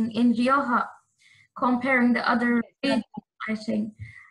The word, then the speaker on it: Rioja: can understand totally that the sound ha which is very spanish is complicated to pronounce in different languages and yes normally when